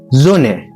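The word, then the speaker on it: Sonne: معنى حرف الاس بس ده برض لو جه في اول الكلام بيتنطق زومبشبيل زون زون يعني شمس معانا مثال تاني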